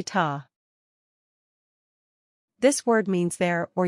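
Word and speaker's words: tá: say ta this word means there or yes it is pronounced ta it rhymes with the English word Raw 2.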